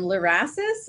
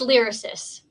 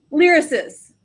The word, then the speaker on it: LYRASIS: identifiers for etds um and sheila is from larasis is that how that's pronounced um it's lyricist lyricist okay that must sound a lot prettier um